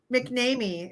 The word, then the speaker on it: McNamee: introduce jill mcnamee and my name is mcnamee it's just like it's just like it's spelled right yeah yeah exactly